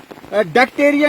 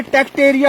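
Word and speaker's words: Tectaria: और एल्सोफिला के पीछे जो है डेक्टेरिया नहीं है, टेक्टेरिया होगा, स्पेलिंग इसका ठीक करना, टेक्टेरिया पॉलीमार्फा, टेक्टेरिया जीनस है, डेक्टेरिया नहीं है।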